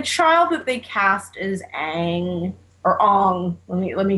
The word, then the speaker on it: Aang: And the child that they cast is Aang, or Ong. Let me correct myself, because it was Ong in the movie, and Sokka.